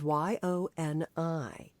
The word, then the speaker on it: yoni: It resides in aronyi and it's spelled y o n i and the male te penis and testicles.